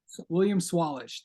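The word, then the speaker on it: William Sawalich: me if I'm I've heard a lot of pronunciations of this name William salich is that how you say it William swalich William swallish thank you uh I know that um so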